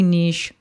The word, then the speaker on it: niche: switch your Niche yes we're saying Niche because it Rhymes if you want to say Niche that's fine I was asked this specific